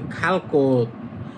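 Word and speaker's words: 갈 곳: তাহলে হবে খালকত। মানে যাওয়ার জায়গা। খালত যাওয়া আর কোত মানে স্থান তাহলে খালকত মানে যাওয়ার জায়গা তখন এটার খোত হবে না এটা হবে কোত খালকত মানে যাওয়ার জায়গা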